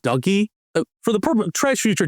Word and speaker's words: DOGE: after the meme coin apparently the official government pronunciation isn't the meme pronunciation the official government pronunciation is supposed to be dougy I'm not kidding I